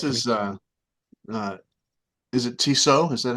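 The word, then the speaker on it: Tissot: just know it's not tsat it's I would think not I would think not I would think it's pronounced the same way that the high-end watch is and I think that's toso right this is the the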